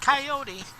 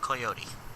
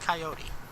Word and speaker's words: coyote: And it's pronounced coyote. And I know this annoys some people when certain other people, and you true nerd, pronounce it coyote. But it's pronounced coyote.